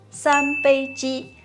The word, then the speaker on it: 三杯鸡: 三杯鸡. Oh, good job. 三杯鸡.